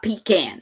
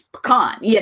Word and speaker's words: pecan: It's not pecan. It's pecan, And so, like, I don't know.